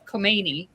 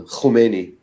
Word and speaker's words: Khomeini: growing up, it was always Khomeini. That's what they always Right. called him. So how do you pronounce it? With a like a ch sound, Khomeini.